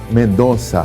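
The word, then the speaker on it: Mendoza: Missionário em mendonza Argentina é assim mesmo pronuncia né pastor Mendonça é como se se fosse com c cedía Mendonça mas na verdade se escreve com Z é que o z tem o som de c cedía Mendonça ISO quanto tempo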